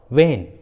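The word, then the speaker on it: when: जैसे what, वेन, Y, which, वेयर, देखिए सभी इंग्लिश वर्ड्स में एच डब्ल्यू के बाद आया है, इसलिए एच साइलेंट है, एच का उच्चारण नहीं किया गया है।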